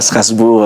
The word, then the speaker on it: Strasbourg: je me trompe pas voilà Strasbourg à la salle des fêtes ça se prononce comme ça le 30 le 30